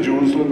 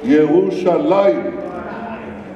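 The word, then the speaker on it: ירושלים: It says, it doesn't say Jerusalem, it says Yerushalayim. You know, the way we spell it.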